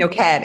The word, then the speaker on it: Noked: Noked. It's Noked. It's like naked with an O. Noked. Naked with an O. The emphasis here is on the end of the word. It's like the last syllables.